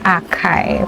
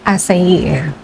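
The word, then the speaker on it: açaí: aking nakaraang video is nabanggit ko kasi do akay pero ang correct pronunciation po niya is asay.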